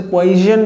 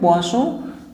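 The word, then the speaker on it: Poisson: इसको ऐसे पोइजन भी पढ़ देते हैं लोग, लेकिन ये है पोसो अनुपात।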